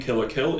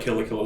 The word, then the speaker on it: Kill la Kill: The name itself, the name Kill la Kill itself is a pun. Okay. The word kill, the English word kill when pronounced in Japanese is kiru, which based on